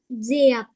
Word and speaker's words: Diệp: Her name is Diệp.